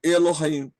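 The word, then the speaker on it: אלהים: tem som mas aí no Chev composto eu vou pronunciar o E então eu leio Elohim né e essas coisas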